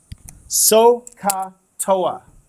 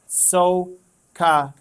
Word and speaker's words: SOH CAH TOA: Okay, I'm going to spell it for you. That's an H. Sohcahtoa is how you say that. Sohcahtoa.